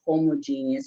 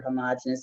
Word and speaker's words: homogenous: There is no homogeneous or homogenous, as I prefer to pronounce the word.